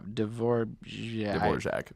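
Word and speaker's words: Dvořák: Yeah, Dvorak. That guy. I know it's not spelled like that, but that's how it's pronounced.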